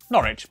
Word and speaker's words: Norwich: W at the start of the final syllable is silent. Norwich, Berwick, Southwark.